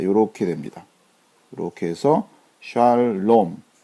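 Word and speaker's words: שלום: 모음 부호를 붙이자면 자 요렇게 됩니다 렇게 해서 샬롬 자 이렇게 읽으시면 됩니다 샬 자 보면 요게 지금 아 발음이고 자 이것이 이제 의에 해당된다 그랬죠 자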